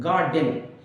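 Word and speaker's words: garden: आर नहीं बोला जाएगा गाडन जब भी आर या तो लास्ट में होता है या बीच में होता है तो उसको बोला ही नहीं जाता जैसे पार्टी गलत है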